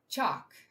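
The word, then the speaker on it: Chaac: and dwelling places of Chak, the god of rain. How do I pronounce that? This is how I normally do my videos, you know. Uh, chalk. Chalk. Okay, I can do that.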